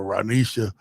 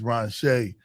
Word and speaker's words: Ranshay: Ransha, I'll call her Ranisha. All right. I thought I was going to say it right. All right. Is it Ranshay? Yes. Okay, it's Ranshay.